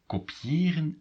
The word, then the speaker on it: kopiëren: So, how about kopiëren and kopie?